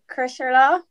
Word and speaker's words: Crosserlough: Well, we kind of say it like Crosserlough. Crosserlough.